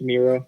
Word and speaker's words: Miro: It's pronounced Miro, by the way, Christian.